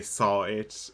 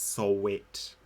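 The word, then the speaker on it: Sahwit: Let's try and pronounce it like normally. Like, if you were not going to say saw it, it's Solwit. I'm going to say that instead of saw it for him.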